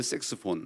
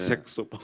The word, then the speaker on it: 색소폰: 색스폰. 그렇죠, 그렇죠. 색스폰이 아니라 색소폰입니다. 네. 색소폰.